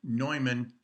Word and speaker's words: Neumann: in the united states one is pronounced newman english neumann german descent our readings today i